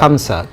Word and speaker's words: خمسة: সেই জায়গায় আমরা খামসা, কামসা, কামসিন, কামসিন এই শব্দগুলো বলে থাকি। তো এগুলো মোটেও বলা উচিত না, বলতে হবে বিল হরফ খ, খামসা, খামসা। এরপর বলা হচ্ছে খামসা সাহার।